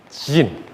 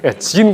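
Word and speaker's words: Zin: sin 와일더니스 오브 신이고 여기는 와일드니스 오브 진 그 영어 알파벳 중 제일 발음하기 어려운 거 마지막 알파벳 발음 좀 해 주세요 진 광야 그니까 한글에 다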